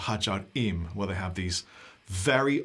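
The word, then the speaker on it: Ħaġar Qim: You should go check out Hajar Im, Hagarqim, I think is how it's spelled. Qim, Hagar Qim, if you're English. It's Hajar Im.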